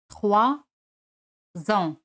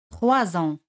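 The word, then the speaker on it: trois ans: 3 ans. Là, ici, c'est prononcé Z. 3 ans.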